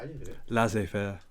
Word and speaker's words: laissez-faire: Never heard of that before, but I'm going to try and learn how to pronounce that first. How do you do it? Laissez-faire. Laissez-faire.